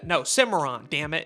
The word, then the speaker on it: Cimarron: And yes, it's pronounced Simmeron, not Kimon, not Cinnamon like from the Applejacks commercials. Not Stallion of the Cinema Beats Productions. Kimon. No, Simmeron.